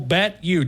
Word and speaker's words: BetU: Simple BetU, just like the letter. You don't spell it Y-O-U, just U.